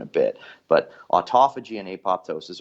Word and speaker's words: apoptosis: bit but autophagy and apoptosis or apotosis if you want to say it the alternative pronunciation are basically the way